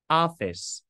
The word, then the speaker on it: office: Mình sẽ đọc là A. Office.